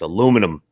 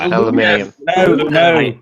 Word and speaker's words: aluminum: I have to pronounce it the American way, no matter what. It's aluminum. Yes, Aluminium.